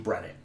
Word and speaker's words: Brennan: call's getting done, and I understand people mispronouncing Brennan. Because it's a lot like Brendan and Brandon, which are pretty common names. And a lot of people just toss a D in there, even though I'm usually